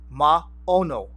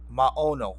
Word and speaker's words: Maono: let me tell you I'm gonna pronounce it two different ways all right I'm Filipino but in Hawaiian you would pronounce it whoa oh no more voir no like wore them all what wha no right but in in everything you see it's called ma oh no ma oh no ma oh no right